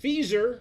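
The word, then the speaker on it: FSER: first sovereign equity research and remember feasor rhymes with geezer and I'm your uncle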